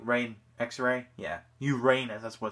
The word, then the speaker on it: Uranus: it's like an x-ray like rain x-ray yeah Uranus that's what it's supposed to be pronounce so so this is the Uranus saber